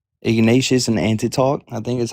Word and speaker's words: Ignatius: Uh so first of all it's pronounced Clement of Rome and Ignatius of Antioch.